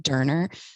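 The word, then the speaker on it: döner: So every time I was like, oh, doner, he was like, it's actually pronounced Durner.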